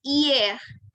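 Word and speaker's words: hier: Nah, kemudian kalau Madam mau bilang kemarin, ya, itu iye ya. Jadi H-nya itu tidak dibunyikan ya. Kita bunyikannya dari I.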